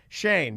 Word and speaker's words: Cheyenne: Shane, but it's spelled like Cheyenne.